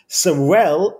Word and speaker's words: Sorel: things that i learned words that end in a down sound are sad sorrow is a sad word sarel is happy i can pronounce it